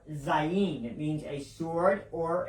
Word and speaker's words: Zayin: is i in because the i is always pronounced as an e in the hebrew the meaning of zyein it's a sword or